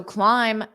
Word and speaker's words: climb: it out but so do not push it out climb the stairs climb the stairs so climb the sound is just not there climb the stairs okay